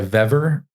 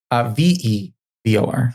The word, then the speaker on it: Vevor: 110 outlet machine made by Vever. Mm-hmm. I think VE. Fever. Is that how you say it? FEVOR. VEVOR.